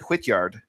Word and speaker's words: Hwitgeard: We have Whityard. Um first of all, I guess I should ask first, how do you pronounce it? Is it Hityard?